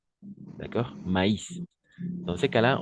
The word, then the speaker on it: maïs: va prononcer Anaïs d'accord maïs dans ces cas là on va prononcer le i d'accord c'est le tréma